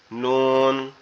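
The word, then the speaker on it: نون: জিহ্বার আগা উপরের তালুর সঙ্গে লাগবে, লেগে উচ্চারিত হবে নুন।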